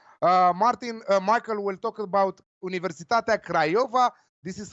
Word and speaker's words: Universitatea Craiova: talked about Cluj Martin Michael will talk about Universitatea Craiova this is how is pronounced so be careful what you're saying they